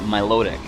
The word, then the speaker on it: Milotic: I call it Milotic. I've heard people call it Milotic, depending on which syllable you accent, I suppose.